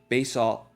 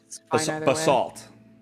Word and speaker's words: basalt: five foot high clawed basal basalt basalt uh pedestal basalt that's how you say it a pedestal carved into